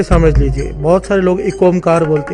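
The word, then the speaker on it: ਇਕ ਓਅੰਕਾਰ: बहुत सारे लोग एक ओंकार बोलते हैं, बहुत सारे लोग अलग अलग तरह से बोलते हैं। असल में इसकी प्रोनाउंसिएशन इस प्रकार से है, एक ओंकार।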